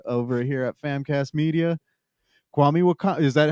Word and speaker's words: Kwame Wahkan: a family member over here at famc media kwami wakan is that how you say it right kwami wakan you pronounced it perfectly right off the bat see